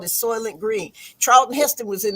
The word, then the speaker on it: Soylent: And the population was so thick that they were feeding these people these little green squares, and they called it Soylent Green.